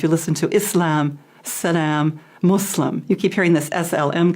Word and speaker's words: Muslim: does the practice yeah so a Muslim not a Muslim or we also a different pronunciations but the most correct is Islam and Muslim Muslim yeah